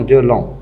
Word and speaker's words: long: Je ne prononce pas le G, mais je dois l'écrire. Donc, je cherche des mots de la même famille. On a longueur et langue, le féminin de long, avec UE.